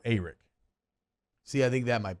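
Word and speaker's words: Arik: y'all saying it wrong did he say a rick or eric he said it was more eric see i think that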